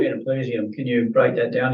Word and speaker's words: Genoplesium: Genoplesium. Genoplesium.